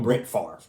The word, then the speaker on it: Brett Favre: Oh, Brett Favre.